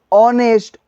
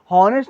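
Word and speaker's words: honest: वी यूज an hour ऑनेस्ट ऑनेस्ट पढ़ेंगे नेस्ट नहीं पढ़ रहे ऑनेस्ट पढ़ रहे है यानी कि एक साइलेंट हो जा रहा जब प्रोनंसिएशन कर रहे तो मेरा क्या एच साइलेंट हो जा रहा है तो ओ एन एच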